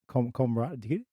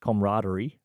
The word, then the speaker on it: camaraderie: Camaraderie? Yeah. Really? I'm pretty sure the word's pronounced camaraderie, and he always just used to call it camaraderie.